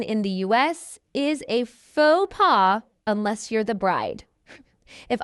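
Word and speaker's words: faux pas: We don't say folks pass. Instead, this is a French word and we're going to say it in the French style, slightly English style as well. We're going to say fauxpaw.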